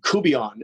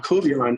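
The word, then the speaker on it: court-bouillon: it's funny because um kubeon is a sauce and yeah coviran is creole it's a creole sauce really and but it's spelled court bouillon and corporal young is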